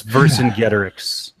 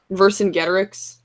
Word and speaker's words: Vercingetorix: to pronounce that so when he pronounced that it's Vercingetorix Vercingetorix yeah it's so I'm actually